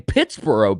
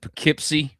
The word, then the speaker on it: Pittsboro: I I butchered the name. I've said Pikipsy. I've said Pittsburgh. I mean, it's been all over the place, man.